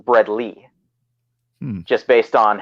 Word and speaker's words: Bredli: right as long as you don't call them bread I pythons which is something I've heard a lot of people call them and I've actually been told by Scott eiper that it should be pronounced bread Lee just based on how the nomenclature and taxonomy